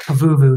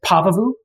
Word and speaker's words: Pavuvu: with eugene at pavuvu you say it like i do by the way i say i've always all my life said pavuvu and most many of the veterans i've talked to say it like that you will hear some people say pavavu i just say anyway